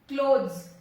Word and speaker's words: clothes: Clothes. E यहाँ पे silent है.